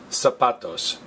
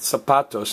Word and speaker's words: zapatos: saputo's notice is pronounced zapatos not zapatos all right the letter Z makes the S sound in Spanish and you kind of